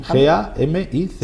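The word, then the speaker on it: Gámiz: Gamiz con acento en la A, Sí, ¿no? G-A-M-I-Z.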